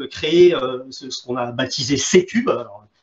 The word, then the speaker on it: C3: ce qu'on a baptisé C-Cube. Alors, on le prononce C-Cube et on l'écrit C3 pour Centre de compétences